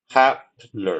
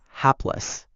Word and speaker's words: hapless: Helpless. Okay. The word you are trying to say is hapless. Is that correct? Yes. Helpless or helpless. The correct pronunciation is hapless.